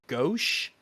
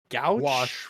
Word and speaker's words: gouache: for backgrounds was called opaque gouache. Wash, right? Gouache.